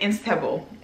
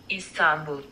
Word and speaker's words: Istanbul: even in this one i kept saying instable like it's like it's spelled i-n-s-t-a-b-u-l but it's let's let's let's hear it together istanbul istanbul in istanbul so now i need to just get it together istanbul not instable but anyways this video is